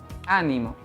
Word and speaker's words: ánimo: bueno tengo esta estructura si yo el acento lo colocó en la primera sílaba tengo la palabra ánimo que en este caso